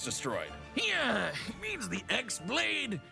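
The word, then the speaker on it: χ-blade: Yeah, he means the Xlade. It's just pronounced like keyblade even though it's just one keyblade.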